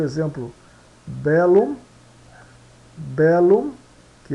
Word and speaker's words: bellum: LL, tienen dos sonidos e se pronunciam separadamente, né?